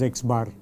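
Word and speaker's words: x̄: We pronounce it as x bar y z bar.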